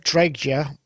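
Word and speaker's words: Dreijer: really hard to pronounce siblings karen and olaf draya which swedish electronic group so that's siblings karen and olaf drejja that's d-r-e-i-j-e-r for those who need to know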